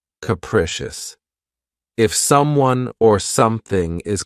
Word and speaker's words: capricious: second syllable keep in mind that the first syllable has that schah sound capricious capricious if someone or something is capricious then that just means that they are subject to sudden or even unpredictable change capricious you could say a person is capricious perhaps